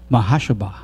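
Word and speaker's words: מחשבה: A-F-H A-B-A-H Mahashaba, meaning designs, inventions, thoughts.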